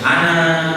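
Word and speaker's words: أنا: Rasulullah SAW pernah bersabda, "Ana," kata Rasul, saya, dalam bahasa Arab tulisan ana itu panjang, tapi baca jangan panjang. Ana, jangan begitu.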